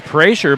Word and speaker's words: Prasher: Somebody in the comments says it's pronounced Prasher, but you got intel from the coach, didn't you? Well, it was. We'll go with Prasher.